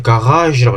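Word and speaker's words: Garage: 써있는 그대로 독일어식으면 가라기에라고 읽어야 되나? 이렇게 돼요. 근데 이게 원래 프랑스어 계통이 그래서 가라지라고 해요. 가라지 이렇게 읽습니다.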